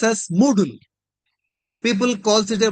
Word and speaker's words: Moodle: This should be pronounced as Moodle. People calls it a module, noodle. No, this is Moodle, Moodle, and better than noodles.